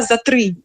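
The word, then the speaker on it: затри: окремим дописом я робила за три це такий знаєте філологічно гарний неологізм прислівник який пишеце разом так всі ці три частинки його за три дні пишеться разом наголос на і означає Ну пішло від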